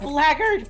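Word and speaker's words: blackguard: Blackard that's a blackard baby. We we folks we be playing video games with elves in them. So we know how blackard is pronounced.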